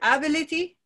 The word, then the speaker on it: ability: The stress has moved to the next, to this syllable, and not because it moved forward, but because this suffix is so sticky, it makes the stress fall just to before it, ability.